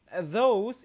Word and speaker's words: those: And then those itu bukan D ya, bacanya bukan D tapi lidahnya digigit dengan gigi ya, dengan gigi those.